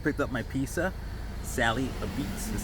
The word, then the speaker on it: Apizza: Sally Apizza is how it's pronounced it. Although it does say, it does spelled as Apizza, but it's pronounced Apizza.